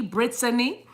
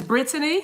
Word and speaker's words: Brittany: Don't pronounce that with a D. It's a T, Brittany.